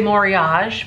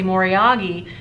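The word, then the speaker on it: moriage: I used to say more iaj but now I see more yagi because apparently that's how the Japanese pronounce it so it's dragon wear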